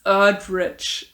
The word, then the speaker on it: Erdrich: night watchman by louise erdrich which is weird for me to say because her last name is very german sounding and me pronouncing it this kind of english way feels super wrong but i guess that's